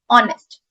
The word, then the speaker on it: honest: अब इस वर्ड को होनेस्ट प्रोनाउंस नहीं करते हैं, एच is silent, pronunciation is ऑनेस्ट. ओ, ऑनेस्ट.